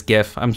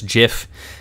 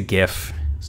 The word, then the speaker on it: GIF: a gif and yes the pronunciation is gif i don't care if the creator said it's jif it's a gif jet it shot it